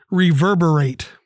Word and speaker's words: reverberate: Reverberate. Four syllables.